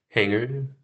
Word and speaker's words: hangar: I said, so it's just because we don't say the H. So here, let's hear this word. And I need to say it correctly, too. Fortunately, let's say that really quick. Hangar.